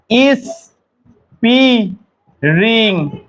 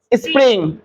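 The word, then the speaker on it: spring: নিয়ে আসবে winter winter এটা কি এই যে ইস রিং এটা না স্যার নয় স্প্রিং নয় এভাবে ধীরে ধীরে নয় এটা দ্রুত হবে এই যে এই র ফালা একটা স্প্রিং এটা সঠিক দ্রুত স্প্রিং নয় স্প্রিং দ্রুত বলতো স্প্রিং তাই না এই হচ্ছে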